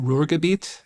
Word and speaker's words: Ruhrgebiet: So my colleague Norbert tells me that the area of Germany that you came from, is it Ruhrgebiet? Is that Yes. how you say it? Yes. Okay, I got that right.